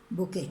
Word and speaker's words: bouquet: Remember to be pronounced bouquet. T is silent.